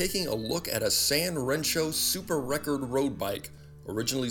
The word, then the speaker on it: 3Rensho: read three rancho but the number three is pronounced san in japanese so the brand name is usually pronounced san rancho by 1973 mr kono